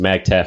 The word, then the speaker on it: MAGTF: Anybody tell me what the acronym MAGTF, pronounced MAGTF, stands for?